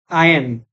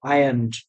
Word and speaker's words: ironed: Get this coat ironed. Here R is silent, so ironed again.